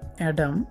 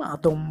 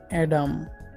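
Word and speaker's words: Adam: আমাদের 11 নম্বর এবং লাস্ট ওয়ার্ডটি হচ্ছে অ্যাডাম, যা আমরা প্রায় অনেকেই ভুল উচ্চারণ করি বানানের সাথে মিল রেখে ডিএম আদম বলি। মনে রাখবেন আদম ওয়ার্ডটির উচ্চারণটি সম্পূর্ণই ভুল, এর সঠিক উচ্চারণ হচ্ছে অ্যাডাম।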